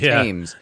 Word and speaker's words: Thames: is going through it which is spelled like thanes but it's teams yeah um we if